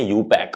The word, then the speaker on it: IUPAC: हम इसको बोलते हैं यूपैक, प्रोनाउंसिएशन है यूपैक, बट उससे मतलब नहीं